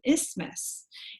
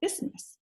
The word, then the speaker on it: isthmus: this is called an isthmus kind of reminds me of Christmas it kind of rhymes with Christmas rather so this one's called isthmus the opposite of an